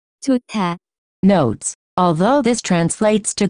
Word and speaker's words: 좋다: To be good, the pronunciation of this word is closer to 좋다.